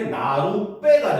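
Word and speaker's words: 나룻배: 자, 보면 나루와 배라는 고유어 더하기 고유어가 합쳐졌어. 알겠죠? 그래서 발음이 어떻게 나루빼가 된 겁니다. 알겠습니까? 그래가지고 이걸 설명하기 위해서 사이에 붙여서 나루배로 썼거든요. 그러니까 사람들이 원래처럼 나루배로 발음하는 사람도 있고 시을 아예 발음을 해서 나루배로 발음하는 사람도 있더라는 거 그지? 그래서 현재는요 두 개 다 표준 발음으로 인정을 합니다.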